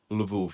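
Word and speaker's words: Lwów: spelled with double use but it it's still pronounced as a v oh so it's love yeah okay interesting i knew that i'm sorry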